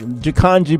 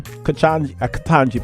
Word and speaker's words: Ketanji: She can't stand when Jakanji Brown, what's her name? Katanji Brown. Y'all like, say her name right.